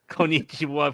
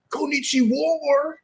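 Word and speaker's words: こんにちは: Konnichiwa 420, please. Oh my god. No. Fire Devil, you're mispronouncing it. It's Konnichiwa.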